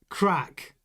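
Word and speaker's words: Krack: Your accent can't pronounce his name properly. Mike Crack. When you say it quickly, though, it's always going to sound like Mike Crack.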